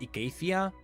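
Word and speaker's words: Icathia: right oh I know it is supposed to be pronounced Acacia but after 10 years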